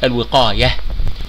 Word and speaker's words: الوقاية: الوقاية، كلمة الوقاية تنتهي بالتاء المربوطة لأن التاء المربوطة هنا تنطقها في حالة الوقف، الوقاية، وتنطق تاء مفتوحة في حالة الوقف.